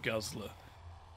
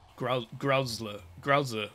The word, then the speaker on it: Gruzzer: Volatile Guzzler. Gruzzer. There, say it right. Gruzzer swollen with infection and primed to burst.